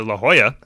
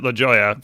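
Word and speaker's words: La Jolla: one was which I live in California near La Hoya it's spelled Joya G yeah and I was like wow what an absolute idiot pronouncing it Le leya and mind you I pronounced it leya for the first 100 times I ever said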